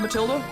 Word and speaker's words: Matilda: How How would you pronounce that name? Matilda. Okay. So, you don't pronounce the H after the T. It's like a silent H.